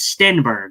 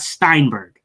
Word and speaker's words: Steinberg: Now we got to work on your Steinberg one because it's Stinberg, not Steinberg.